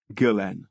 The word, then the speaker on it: Ghislaine: went on BBC Radio 4S today program and pronounced it Gillan I bet wrong proper names that end in